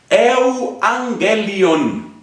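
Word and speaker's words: εὐαγγέλιον: Se dice euangelion.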